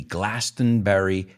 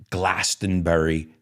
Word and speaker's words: Glastonbury: together, who organized this Glastonbury Festival. Now, I know the British say Glastonbury. I think they don't say Bury, Glastonbury, but Americans say it our way, even though it's their festival.